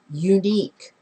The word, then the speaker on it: unique: here a unique person what is that first sound in that word unique yep yep that sound every time you have that sound that's not a vowel sound that's not a consonant sound it is a semi vowel or a semi vowel